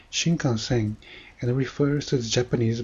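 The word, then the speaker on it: 新幹線: But if you go to the dictionary, you can see it is pronounced shinkansen and refers to the Japanese bullet train.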